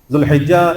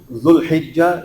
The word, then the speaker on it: ذوالحجہ: شروع ہو رہا ہے۔ ذوالحجہ اسلامی مہینوں کے اعتبار سے 12واں مہینہ ہے، اور اس کا تلفظ ذوالحجہ یا ذوالحجہ دونوں طرح کرنا ٹھیک اور